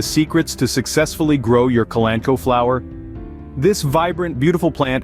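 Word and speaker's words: Kalanchoe: addition to your garden the colano pronounced kulan koi is a genus of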